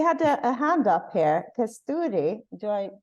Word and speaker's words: Kasturi: Kasturi, do I pronounce it? Yes. Correctly? Yeah. Yeah. It's Kasturi.